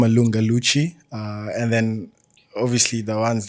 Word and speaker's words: Lunga Luchy: Well, today I've got a special guest from one of the biggest OPs we've seen on TV by the name of Lunga Luchy.